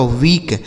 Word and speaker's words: weak: देखिएगा, तो ई और ए अगर एक साथ लिखे हो तो उसे हम बड़ी ई की मात्रा का उच्चारण करेंगे, ठीक है। जैसे हम शब्दों को पढ़ के देखेंगे ना, तभी तो समझ आएगा। जैसे डब्लू से हो जाएगा दोस्तों वाह, इस ई और ए का उच्चारण बड़ी ई की मात्रा हो गया, और के से हो जाएगा क, यह लिखा गया आपका वीक, WEAK वीक, ठीक है ना।